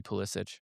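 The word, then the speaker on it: Pulisic: Pissic says his name wrong. It should be Pisic.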